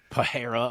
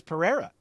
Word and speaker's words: Pereira: Anik be like, hey, guys that keep saying Pereira 100 times, his name is Pereira. Just say Pereira. Like, why doesn't he tell them? Why does he just let them keep saying it wrong?